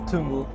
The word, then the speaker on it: Tungl: Can Can you teach how to pronounce it? say Tungl. Tungl? Yeah. Yes. Tungl.